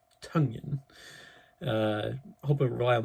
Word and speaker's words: Tonyan: rodgers to rob it robert tonyan rhymes with fungien not tanyan tonyan uh hope i rely